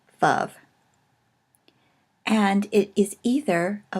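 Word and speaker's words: ו: Now, it is spelled wow, but is pronounced generally Vav.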